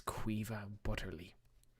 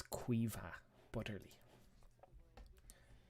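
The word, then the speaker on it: Caoimhe Butterly: That's how you pronounce that. Her name is Quiva Butterly. It's Quiva Butterly.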